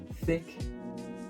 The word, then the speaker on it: thick: So if you see this word thick, you will know that the pronunciation is a short I because ck and thicker will also tell you that the I needs to be short.